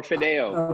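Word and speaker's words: Fideuà: How do you pronounce it, Gerard? Fideua. Fideua. Fideua or Fideo.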